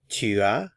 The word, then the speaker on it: tu as: You've learned how to say I have, j'ai, you have, tu as. Notice we're not pronouncing the S.